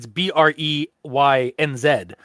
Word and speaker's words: Brains: Like that's exactly how I read it, and like it's BREYNZ, and when I looked it up online to make sure I was pronouncing it right, that is actually how online tends to pronounce it, is Brains.